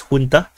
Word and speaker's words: junta: and tell me that this is actually the Spanish word it's pronounced as Junta but if I say Junta no one in the English will understand what is this it's the Junta and uh the military